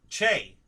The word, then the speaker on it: Che: cho cho is that is that how you pronounce it Che okay so it so it's Che all right